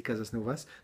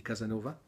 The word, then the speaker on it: Casasnovas: Je ne pense pas que ça se dit Casasnovas, mais ça s'écrit comme ça. Je pense que ça se dit Casanova.